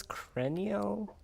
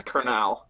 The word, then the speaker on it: Kernal: How do you pronounce this? Crenial? It's Kernal. Kernal.